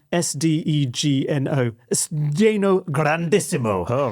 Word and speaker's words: sdegno: How do you pronounce it? Do you know how to do it? I don't know. What's the word? The word is Sdegno.